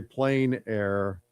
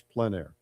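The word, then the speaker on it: plein air: Uh, some say plain air. On my plain air podcast, I say I call it plan air podcast, but you can use either word.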